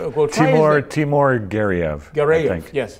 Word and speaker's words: Timur Gareyev: You're going to ask me to pronounce his name? Well, Timur Gareyev. Gareyev, yes. Gareyev.